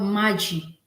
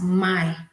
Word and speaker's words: maji: But in the spoken Swahili in Congolese, in the Lumumbashi, water is my. It's like the J in the maji just went silent, but and it just pronounced as my.